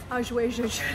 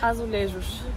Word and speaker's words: azulejos: How do you pronounce it? You can do it. Azulejos. Okay. Yeah, it's harder than it looks, isn't it? It is. How do you say it? Azulejos. Azulejos.